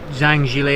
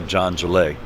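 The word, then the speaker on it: Zhang Zhilei: so his name is Jala John so the Z H is pronounced with a J yeah so but in China they say the last name first so John Jala is how it is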